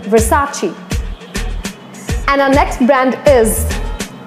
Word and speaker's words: Versace: many people call it Versace but no it's the incorrect pronunciation and the correct one is Versace because it's an italian word you need to speak it in that manner only it's Versace and our next band